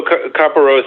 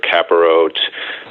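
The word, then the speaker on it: Kapparot: Well, so carparose is is one of the pronunciations and then the other pronunciation I've heard is caparet or caparot.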